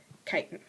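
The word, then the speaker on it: chitin: another complex carbohydrate and that's spelled with a ch ch i t i and kiten okay so that's the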